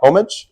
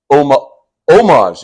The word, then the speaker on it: homage: it French for homie homage French for homie French for homie I'm pretty sure that's so it pays omage you don't even pronounce the h I think you can